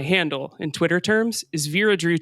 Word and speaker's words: Vera Drew: and Twitter terms is Veera drew 22 makes it memorable you know to have a number rhyme with my name birra dritt when t2